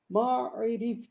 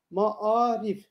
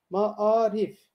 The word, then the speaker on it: maarif: Ma'rif gibi belki okuyabiliriz, uzatabiliriz. Ama biz kelimeyi kullanırken nasıl telaffuz ediyoruz? Ma'arif. Bakınız dikkat ediniz. Ma'arif.